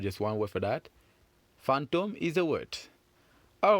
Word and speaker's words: fantôme: seen in the word fantôme. Fantôme. Fantôme. Fantôme. Very good. So how many syllables has fantôme got? That's right. Fantôme, of course, has got 2 syllables. Fang and dom.